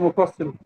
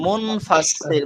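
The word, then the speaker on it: منفصل: মধ্যে মুফাসসিল মধ্যে মুফাসসিল, একটু কারেকশন, মুনফাসসিল মুনফাসিল মুনফাসিল।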